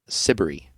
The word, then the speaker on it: Siberry: by an artist named jane sibery which rhymes with slippery yeah i'm glad that